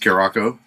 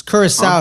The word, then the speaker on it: Curaçao: By the way, Ivory Coast is up 1-0 against Curacao.